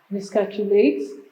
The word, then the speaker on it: miscalculate: Miscalculate. So miss cannot carry the stress. Miscalculate.